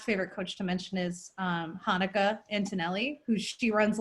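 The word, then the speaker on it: Hanneke: an e ke but it's pronounced like the Jewish holiday so Hanukkah yeah she's from South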